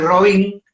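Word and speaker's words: Robín: Ahí, el murciélago y Robin, con acento en la I, el murciélago y Robin, aparecen, pero digamos como invitados, ¿no?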